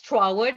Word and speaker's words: Trotwood: they're like, oh, "Oh, it's a it's Treywood. And I'm like, it's Trotwood, ma'am.